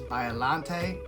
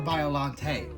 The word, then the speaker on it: Biollante: I call her Biollante. That's how it was pronounced in the game. That's how I say it. If you say it Biollante, Biollante.